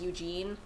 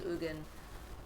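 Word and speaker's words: Ugin: So glad I'm one of the right people who will say his name right and not the one who says Eugene. Yeah, pretty sure his name's Ugan.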